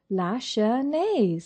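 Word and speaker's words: Lachesnais: Lasher. Margeline. Lasher. You don't pronounce the middle S.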